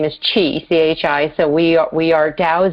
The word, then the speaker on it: Chi: My brother's name is Tao, T-A-O, pronounced Tao, and my sister's name is Chi, C-H-I, so we are Tao, Zen, and Chi.